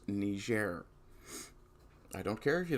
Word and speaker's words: Niger: No, it's not pronounced any other way. It's Niger.